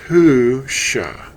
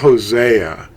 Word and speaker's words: Husha: and an ayin, and it's pronounced Husha. It's not Hosea. That's a Roman and Greek distortion.